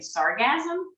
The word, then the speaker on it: sargassum: It's called, I think, sargassum is how you say it.